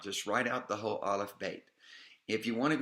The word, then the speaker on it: Aleph: that you're saying it, although Aleph is silent along with the ayin, which we will emphasize later, it takes on the whatever vowel sound is there, and by and large, there's some things we could say historical.